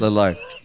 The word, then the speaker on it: Lillard: Liard. No. No. Oh, what? Lily. Lar. Back to Lard. Lillard. Damen Lard. I'm going to sneeze. I can't see. I don't want. You keep saying that, but Damen Lillard exits versus Pacers with long leg injury.